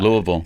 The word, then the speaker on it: Louisville: it's so it's mind-blowing it's not b-i-l-l-e it's v-u-l yeah louisville yeah louisville yeah it's it's just it's just yeah it's just different right it's the same but it's just different it's different emphasis you know the different emphasis on the different syllable it's and it's a